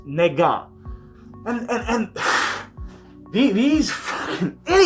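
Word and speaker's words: 那个: is nega n-e-g-a well no n-a-g-e but it's pronounced negan and and and these idiots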